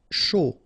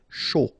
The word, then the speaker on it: chaud: Chaud. Final D not pronounced, and then when you combine this C and H, you get the sh sound. A and U, O. Chaud.